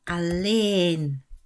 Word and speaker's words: alleen: Dit is vooral een verschil in uitspraak. Afhankelijk van jouw moedertaal zal dat gemakkelijker of heel moeilijk zijn. En dan gaat het om de letter e. E. Allen, e, allen. En alleen. Allen, alleen. Dus de e gaat langer